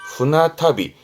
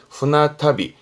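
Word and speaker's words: 船旅: 배를 말하는데 배는 일본어로 그렇죠. 후해. 하지만 지금은 후나타비. 발음 바뀝니다. 후나타비. 배로 가는 여행을 후나타비 하는데 요런 발음 때문에 주의할 필요가 있습니다.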